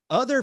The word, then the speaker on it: Otha: And it says the Clower family had 5 members, including mother Mabel Clower, father Otha Carl Clower, but it's spelled O-T-H-A. So Other Carl.